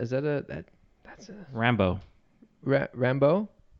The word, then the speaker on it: Rambeau: Is that that's a Rambo. Rambo? Like Rambo. Like Rambo, but that's not spelled like Rambo. I know, but then that's how they said it in the movie.